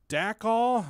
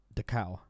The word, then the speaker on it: Dachau: __ ] it up the cow Dachau Dachau Dachau that's it the cow like the cows